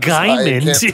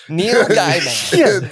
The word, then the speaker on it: Gaiman: Cody, you said Gaiman. I was like, who the fuck is Gaiman? Gaiman. Neil Gaiman. Dude, I'm just high and can't talk. You put the wrong emphasis on the wrong syllable.